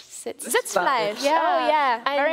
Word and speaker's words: Sitzfleisch: Maybe you can correct my pronunciation. It's like Sitzfleisch. Sitzfleisch.